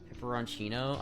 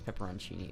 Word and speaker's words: pepperoncini: Pepperoncino? I don't think it's I think it's pepperoncini.